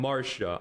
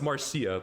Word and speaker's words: Marcia: I thought her name was Marcia because there's another unit called Garcia. And I'm like, why is that name pronounced Garcia, but hers is Marsha? Why is her name Marcia, but his name is Garcia?